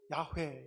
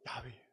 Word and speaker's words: 야훼: 우리가 이름으로 소리로 야훼 이렇게 하는 것이 아니고 실제로는 어떻게 하는 거냐면 이게 야입니다. 이게 회입니다. 그래서 이 야훼를 발음하는 정확한 발음은 인간이 숨을 내쉬고 들이마시고 할 때 나는 소리가 야훼예요.